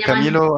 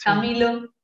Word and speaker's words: Chamilo: No, se escribe con C, pero la pronunciación es igual. Camilo Ah, Sesto y Camilo, sí. Camilo, el Mm, software.